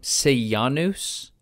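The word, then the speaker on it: Sejanus: while the most powerful person spell his name say Janos se J a and us say ah news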